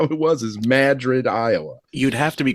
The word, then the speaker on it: Madrid: And I go, "Well, how else would you pronounce it?" and he goes, "It's Madrid." Yeah, that's what it's so stupid, but but that's how it was is Madrid, Iowa.